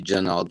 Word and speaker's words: Jaynal: Is Jaynal still on, Jaynal? Yes, ma'am. And my name is, how you pronounce my name is actually Janal, the Y is silent, ma'am.